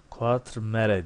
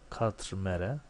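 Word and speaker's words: Quatremère: Quatremare diye okunuyor. Quatremare.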